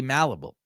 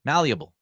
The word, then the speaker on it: malleable: that he can be malleable that's not how you say it malleable there you go that's better he has shown that